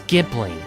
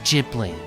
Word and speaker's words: Ghibli: Technically, the correct pronunciation is Ghibli. However, due to differences in pronunciation between the Japanese and Italian languages, the name ultimately became pronounced as Ghibli.